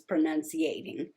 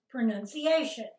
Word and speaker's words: pronunciation: any better at is pronunciating nikki that's not the way you say that it's not no you say pronunciation pronunciate no pronunciation i am not good